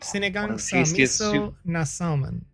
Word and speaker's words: Sinigang sa miso na salmon: Sinigang se myoso nen salmon? Salmon, yes. Okay. That was the name of the soup. Sinigang sa miso na salmon. Yeah, there you go.